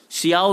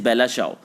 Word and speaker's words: Bella ciao: उसको हम चाओ जो उसको हम प्रोनाउंस कर रहे हैं दैट इज़ CIAO, शियाओ हम इसको बोल सकते हैं, लेकिन इसकी जो प्रोनाउंसिएशन है दैट इज़ बेला चाओ।